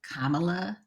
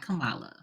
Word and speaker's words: Kamala: pronounce her name right it's Kamala not Kamala oh I'm sorry I